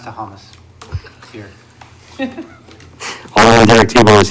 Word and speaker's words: Thomas: It's pronounced Tahamas.